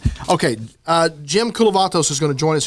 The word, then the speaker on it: Kulavatos: very special guest, Jim Kulavatos. Yes. Did I say it right? You said it right. I said it right. I got it right. It just sounds like a Greek yogurt brand.